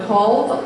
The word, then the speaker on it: Kalv: I was told Kalv, like solve.